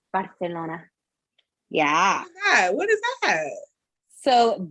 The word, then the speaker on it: Barcelona: Spaniard, Barcelona. Because they say a C like TH. Barcelona.